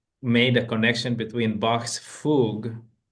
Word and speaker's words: fugue: Escher, Bach, he made a connection between Bach's fugue. How do you Hmm?